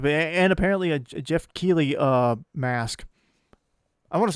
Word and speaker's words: Keighley: I think I somehow imagined an N into his last name and said it like Jeff Neely or something like that.